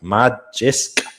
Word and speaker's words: Magisk: Magic Viking, is that it? Magic? How do you say that? Magisk. It's an annoying fucking username. Just say magic, will you? For fuck's sake. Yeah. It's just Swedish for magic.